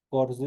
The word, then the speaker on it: horse: Horse es caballo. Esta H obviamente se transforma el momento de pronunciarlo como una J.